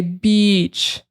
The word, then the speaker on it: beach: So don't make a short sound there. You don't want to say beach, like you don't want to cut that short.